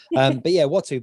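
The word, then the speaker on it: Uatu: Well, that I can never pronounce his name because it's spelt differently than it sounds. Watu, isn't it? But it's spelt bizarrely. Some kind of dyslexia, I'm sure. But Watu.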